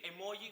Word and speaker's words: emoji: Esto quiere decir escribir emoji con J y pronunciarlo por tanto emoji, porque esa es la pronunciación que en principio le corresponde en español a esa grafía.